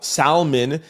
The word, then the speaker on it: salmon: 882 wrote scream out salmon with an L salmon because now nobody is around to tell me the L is silent yo that's really good